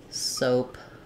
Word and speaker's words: soap: words like Road um you could also think about it like soap um with like in the word rope it has the true o sound and in the dictionary